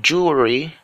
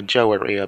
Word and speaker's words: jewelry: examples I've got here we have jewelry jewelry not a Joe area P and whatever people call it is jewelry then we have a